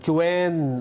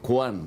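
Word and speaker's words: Quan: pero hindi kuhan ang pronunciation gan oo ang pronunciation Chen Chwen ah Jing Chen Chen Jing Chen Chen ayun Jing Chen kaya your excellency ambassador Jing Chwen ka mo huwag mong sasabing kwan o Jing Chwen Oo baka magalit.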